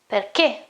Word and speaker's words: perché: Okay, so normally C and E should be che, but in this case I've got an H in the middle, and so I say che. So I pronounce it like this, perché.